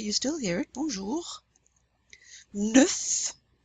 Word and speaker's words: neuf: Neuf, neuf, that's the number 9, which we will learn shortly. You pronounce that F.